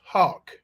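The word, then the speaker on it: Houck: lived with her boyfriend brooks hawk that's spelled h-o-u-c-k but i think it's pronounced like a hawk that flies in the air you know a bird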